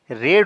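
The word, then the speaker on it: read: I will have, और यहाँ पर वर्ब है पढ़ना, और दोस्तों रीड का वर्ब 3 रेड होता है, इसे रेड पढ़ते हैं, हालांकि स्पेलिंग सेम रहता है।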